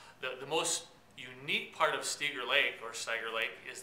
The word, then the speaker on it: Stieger: When we actually built our building here, we pronounced it Stieger Lake Stores because the family had actually been in when we were doing our development, and that's how they had said they pronounce it.